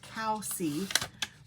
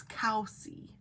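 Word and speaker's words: Covesea: She said it's pronounced Cowsea, but it looks like Cove Sea coastline, but it's Cow Sea.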